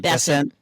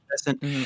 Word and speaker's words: Bessent: Bessent. Bessent.